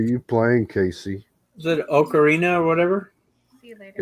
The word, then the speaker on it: ocarina: pronouncing it because uh ocarina is how the italians the creator of the instrument they pronounce it ocarina which means that